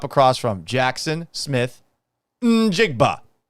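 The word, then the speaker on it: Njigba: American football player name pronunciation. More names from football stadium. Seattle Seahawks. Jackson Smith. Jackson Smith. Of course. Jigba.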